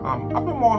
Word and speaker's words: Albemarle: It is spelled A-L-B-E-M-A-R-L-E.